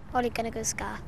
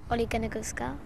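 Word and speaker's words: Solskjær: The biggest question of the lot, though, is how exactly do you pronounce the new manager's name? Ole Gunnar Solskjaer. Say again. Ole Gunnar Solskjaer.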